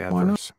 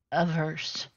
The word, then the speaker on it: averse: I did say adverse because I thought that's how you say it. What are you saying? Averse. Dean wasn't averse. Oh, for some reason I'm putting a D in there.